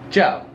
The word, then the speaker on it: ciao: about unless you say i want some chow okay that sounds like ciao ciao is goodbye yeah goodbye goodbye okay